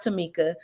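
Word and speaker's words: Tomeka: on the screen and my mom did name me and spelled my name a little different but it is pronounced Tamika so uh t-o-m-e-k-a and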